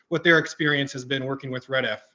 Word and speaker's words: REDF: So I'm just going to spend a little time at kind of talking about who REDF is, what we do.